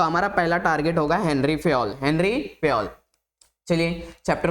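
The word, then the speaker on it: Henri Fayol: हेनरी फेयल है ये। हेनरी फेयल ना कि हेनरी फेविकॉल। कुछ बच्चे हेनरी फेविकॉल बोल देते हैं जो कि गलत है।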